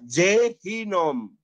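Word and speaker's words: גֵּיהִנֹּם: Yehuyab, Les, G, ini dibacanya apa? Jehinom. Ada dages di sini.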